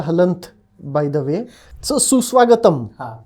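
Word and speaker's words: सुस्वागतम्: that's called a Halen by the way so Su swagatam right the m has a Halen at the end so that's how you know that you are supposed to pronounce it suswagatam not sus Swagat right right so Sanskrit makes it obvious unlike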